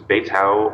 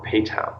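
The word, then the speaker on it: Beitou: side trip MH bayau I think it's bayau or pay toown depending on who you're talking to some people pronounce with a b and some with a p it's a hot spring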